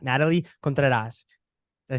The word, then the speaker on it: Contreras: Donis brothers and today we have not Natalie Contreras did I say that right yeah you said